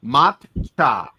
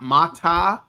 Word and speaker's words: matcha: Mcha. Not ma. Not mata. Not mocha. Mcha. That's it. Okay. It's very simple. Two syllables.